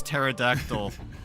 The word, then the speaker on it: pterodactyl: Mine is mine is pterodact mine is pterodactyl because because uh people don't know that the P is silent.